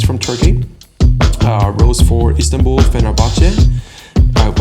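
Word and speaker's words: Fenerbahçe: onat kazakh he's from turkey rose for istanbul fenerbahce i've pronounced that club's name correctly that's a well-known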